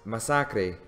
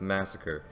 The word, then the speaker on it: Masacre: okay first off I know that it's actually pronounced Misaki but to keep from stumbling through the whole video I'm just going to stick with Massacre this guy in my humble opinion is truly